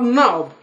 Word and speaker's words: knob: And then we have knob.